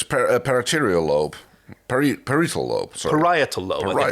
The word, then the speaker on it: parietal: Parietal lobe, I think it's pronounced.